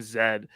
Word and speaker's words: Zaid: for Lance and David it's just like you're a letter in the alphabet that's how we say